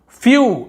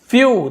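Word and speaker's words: few: वाला देख लेते हैं फ्यू इसे फू नहीं बोल रहे हम क्या बोल रहे हैं फ्यू तो लास्ट में देखिए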